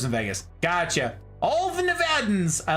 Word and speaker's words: Nevada: to say the name most Californians know how to pronounce Nevada everyone else turns British when they try to pronounce my state it's one of my biggest pet peeves I'm not going to lie unironically big pet peeve Nevada I'm like why are you British all of a sudden hello they're like the